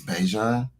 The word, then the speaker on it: Bijan: His mom corrected everybody. It's Bijan.